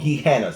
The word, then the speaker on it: Gehenna: They got a place called Guehana, spelled with a G.